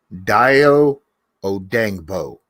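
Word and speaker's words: Dayo Odeyingbo: speed edge and then go going and getting daiyo odangbo that's how you pronounce his name but but he's not going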